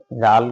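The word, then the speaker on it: ذال: নক্তা থাকলে দাল তাহলে উচ্চারণ খেয়াল করি ডাল ডাল একটু শক্ত হরফ বাকি জাল কিন্তু একদম নরম বলি জিবার আগা উপরে সামনের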